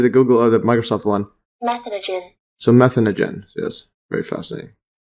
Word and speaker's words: methanogen: up again so meth I've been calling it this is methan methanogen that's what I pronounce it and when I Google search it says methanogen so but if I